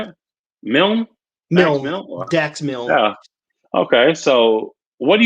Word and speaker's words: Dax Milne: Dax Milne.